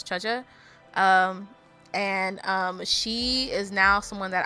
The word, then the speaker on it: Zhezhi: I'm trying to learn how to pronounce her name right, so it's Zhezhi.